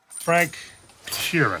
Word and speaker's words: Frank Sheeran: Frank Sheeran.